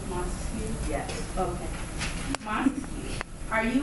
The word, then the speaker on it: Montesquieu: Is your name indeed Timothy Montesquieu?